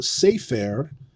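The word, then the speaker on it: ספר: All right, but what happens in the construct is we know sefer is accented, not in the construct, but in the absolute form. Sefer is a seglet. It's accented on the first syllable.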